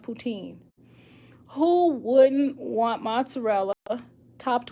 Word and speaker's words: poutine: to travel to oh putin pronounced poutine who wouldn't want mozzarella